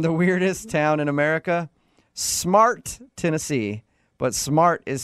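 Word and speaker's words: Smartt: And the weirdest town in America, Smart, Tennessee. But Smart is spelled S-M-A-R-T-T.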